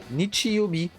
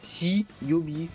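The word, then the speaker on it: 日曜日: Et là, on le prononce Nichi, Nichi-yobi. Et pas hi-yobi ou ka-yobi. Parce que ka-yobi, c'était le mardi.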